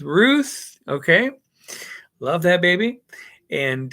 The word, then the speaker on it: Ruth: So you've got Esther and rhymes with tooth, Ruth.